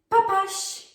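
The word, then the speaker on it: papaś: Or another variation, papash, papash, papash. So we have the she letter there. It can be a little bit hard to pronounce if you're not really familiar with the Polish letters.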